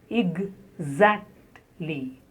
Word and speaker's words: exactly: The next word is exactly. Exactly. The first syllable has ig, and then za. Exactly. Stress on the second syllable.